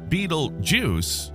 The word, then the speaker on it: Betelgeuse: Pronounced Betelgeuse in a quirky twist, its name traces its origin to the ancient Arabic phrase Yad al-Jawza, meaning hand of the central one.